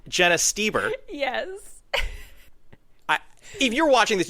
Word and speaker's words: Stoeber: I know it is spelled weird, but it's Stoeber.